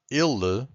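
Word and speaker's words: ele: say it properly so I'm going to tell you that ill the first one this e it's a bit more close so we say e and then we have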